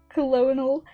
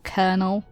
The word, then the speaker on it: Colonel: opportunity to meet color colonal click okay I can't pronounce that kernel is it kernel because I that that is not how my brain says that word Colonel Colonel Sanders game